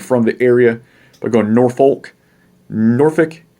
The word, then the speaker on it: Norfolk: up but when you're talking about norfolk and suffolk you get to cuss so norfolk virginia suffolk virginia you always tell someone who wasn't from the area but going norfolk norfolk suffolk pokosin i